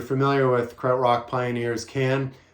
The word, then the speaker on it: Can: with credit rock pioneers can or khan as it's sometimes pronounced can um they were